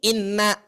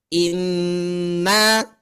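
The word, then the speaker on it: إنّا: Maka Bapak Ibu ketika Ibu membacanya, ya, ditahannya itu adalah 2 ketukan, 2 harokat atau setara dengan 3 kali ketukan hitungan lamban. Maka Bu, bacanya Pak, jangan begini, inna, jangan. Atau di surat Al-Kautsar, inna a'toinakal kautsar. Tidak, ya. Inna, 3 ketukan.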